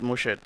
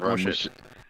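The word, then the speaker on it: Muschete: Yeah, I think it's really mush. But, you know, Jamaica say mushet cuz Well, he calls it mushet. So, he pronounce it mushet.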